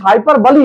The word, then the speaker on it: hyperbole: दिखा दिया जाता है तो इस फिगर्स स्पीच हाइपर बली इसका उच्चारण अगर देखेंगे तो हाइपर बली इसको कहते